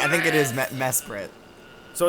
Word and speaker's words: Mesprit: region yeah and uh Mesprit you know they uh they guard the Lakes you know we're on the water okay I think it's pronounced me Spirit Mr Curtis me Spirit